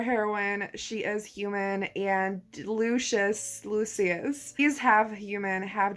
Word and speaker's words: Lucius: imagined it i think in the audiobook it's lucious but i thought it was pronounced lucius so i'm not sure what version to go with now jessen our heroine she is human and lucious lucius these have human